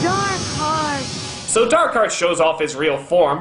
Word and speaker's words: Dark Heart: wrong the whole time it isn't dark heart it's darkart and what if I